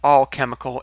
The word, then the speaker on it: alchemical: I was wrong, but I think alchemical is, no, A-L, like Al Bundy.